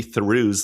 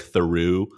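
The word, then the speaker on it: Theroux: Yeah, we did get some listener feedback from Asher S that I'm not pronouncing Louis Thuru's last name correctly, which is true. It is more like Theu, but I blame the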